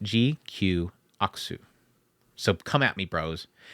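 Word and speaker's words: GQuuuuuuX: And it's pronounced GQXU. Or Aksu. When they were doing their live stream, when they initially announced it, they said it is pronounced GQ Aksu.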